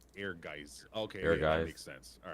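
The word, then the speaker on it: Aegis: Every time I'd see in the magazine or something, I'm like, "Uh, oh, it says say it like air ges." Okay. Air gist.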